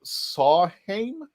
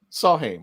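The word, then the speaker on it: Samhain: uh it was uh saw when it's oh he's pronouncing that the m is a w in celtic so sawheim saw him i think that i think he's right out there i think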